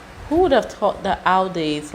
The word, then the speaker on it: Audi: just said it aie in German we say Audi Audi and there's actually a